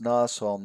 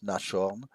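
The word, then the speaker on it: Nashorn: on Note here we you must pronounce Nason not nashon but Nason because in German s ha uh needs a c between the S and the H to be uh pronounced sh so actually you you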